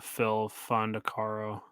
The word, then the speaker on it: Phil Fondacaro: so I mean oh I do know um Phil fondacaro thank you that's how you say his name